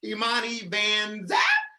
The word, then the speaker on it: Imani Vanzapp: Imani Vanzapp. So it's spelled just how it sounds. IMANI. is in victorious. Yeah. NZAP. Imani Vanzapp on Instagram, Twitter, Facebook, and YouTube.